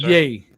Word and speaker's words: yea: yeah ye took up the Tabernacle of moloch and the star of your God concert yeah right yeah he's right yeah it's pronounced yay read it again concert yay I said read